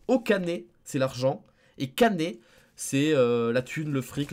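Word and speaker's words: kane: kanji de l'argent de la monnaie qui se prononce canet mais quand tu dis cannes et ça ça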